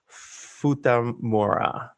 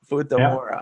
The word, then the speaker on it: Futamura: Andy Sweetman, and you are the sales and marketing director over at Futamura. Did I say it right? That's correct. Futamura.